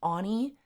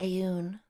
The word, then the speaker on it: Aeon: I keep forgetting his name is pronounced Ani. That's so stupid. So stupid. His name should be Aeon. That sounds like intimidating, doesn't it?